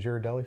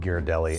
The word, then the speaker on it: Ghirardelli: Can you look up the pronunciation of Ghirardelli for us?